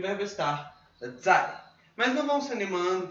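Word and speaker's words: 在: Não é o mesmo zai de zai jian, mas a pronúncia é igual. É o 4º tom zai.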